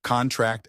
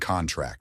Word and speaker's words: contract: Stress on the last syllable is a verb. Examples: contract and contract.